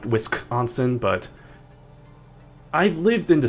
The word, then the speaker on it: Wisconsin: Maybe it is actually supposed to be pronounced Wiskansson, but I've lived in the state for a good number of years and I feel like from my experience, I've always pronounced it Wisconsin and like I feel like most people living